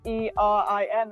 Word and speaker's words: Erin: I always thought of like AA is like, just like a downward sort of pronunciation, and then with an E is like, like kinda like. upward.